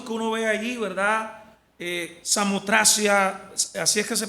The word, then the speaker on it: Samotracia: Samotracia, así es que se pronuncia, ¿no?